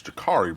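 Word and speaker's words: Jacurri: So it's Ja'Carri Brown. Okay. Even though it's spelled with a U.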